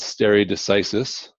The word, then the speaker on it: stare decisis: there which is called stare decisis no one knows for sure how to pronounce Latin words because well Latin is a dead language but that's how most people pronounce it that means let the